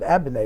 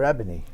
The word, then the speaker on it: Abene: So there was another whole Abene clan in New Orleans, and they pronounce it nice. They pronounce it Abene or Abene, which is really lovely.